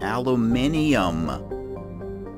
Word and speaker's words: aluminium: The crust is mainly composed of, and I've heard people say this from Britain, aluminium. But here in the United States, we pronounce it aluminum.